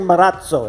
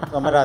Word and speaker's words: Marazzo: We're saying Marazzo. It sounds lovely, doesn't it? Because when we went to Pininfarina, those guys said Marazzo. Exactly. So Marazzo.